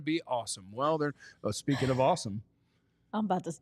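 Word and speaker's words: Asim: Well, speaking of awesome. I'm about to. Is that how you pronounce it? It is awesome. That's a sweet first name. It's spelled A-S-I-M, but Awesome Richards is going to be your starting left tackle today.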